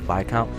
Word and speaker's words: Viscount: Former Viscount. I believe that's the proper way to pronounce that, Viscount. Why do we have words